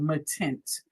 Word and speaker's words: Matint: There's this new stuff guys called Matint. That's how you pronounce it. We did find out from Seth After. These are not Seth colors, but we did find out from him that these are called Matints.